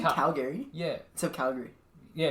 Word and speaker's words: Calgary: I live in You have Calgary. to cut out half the syllables. Calgary. Instead of Calgary. Well, Calgary. You're just adding a lot onto the G.